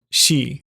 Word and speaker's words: 四: kanji for four the own Yomi or Chinese pronunciation is she the Yomi or Japanese pronunciations are yo-yoin and